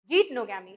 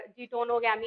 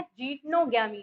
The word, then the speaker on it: जीटनोगैमी: Pollination की, वो है जीटनोगैमी। ठीक है, व्हाट जीटनोगैमी इज? अच्छा, इसके प्रोनाउंसिएशन में काफी लोगों को प्रॉब्लम होती है, जीनटोगैमी और जीटोनोगैमी, है ना। इसका करेक्ट प्रोनाउंसिएशन है जीटनोगैमी, जीटनोगैमी।